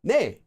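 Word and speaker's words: 네: shortened to just nay this combination officially is pronounced nay but nobody says it that way not no one it's rarely said that way most of the time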